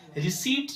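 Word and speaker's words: receipt: को रिसीप्ट नहीं चाहिए रिसीप्ट चाहिए रिसीप्ट रिसीप्ट नहीं रिसीप्ट चाहिए। पी यहां पे साइलेंट रहता है।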